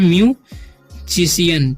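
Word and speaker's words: musician: तो इसे पढ़ते हैं म्यूजिशियन, ठीक है, म्यूजिशियन। क्योंकि यहाँ पर सी के बाद आई है इसीलिए हम उसका उच्चारण स पढ़ रहे हैं, ठीक है।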